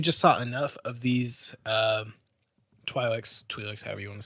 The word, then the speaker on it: Twi'lek: My number 3 is it depends on how you pronounce it, the Twi'lek or the Twi'leks. Twi'leks, yeah.